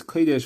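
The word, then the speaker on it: קֹדֶשׁ: So the Gemara says, because the pasuk calls it kadosh or kodesh, it's spelled without a vav, and that's one of the 13 Maseres where it's spelled without a vav. And we read it as kodesh, which means that it has kedusha.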